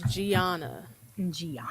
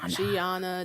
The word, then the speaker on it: Giauna: exactly how it's pronounced so my name is Gianna Gianna Gianna Gianna and so that's g-i-a-u-n-a right yes the Beautiful